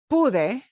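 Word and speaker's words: pude: kudai p-u-d-e okay yes so that p-u-d-e is is pronounced bude but it means and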